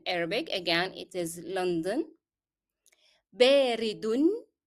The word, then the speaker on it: باردٌ: باردٌ. Here I pronounced the sound of un because I followed it directly with the following word.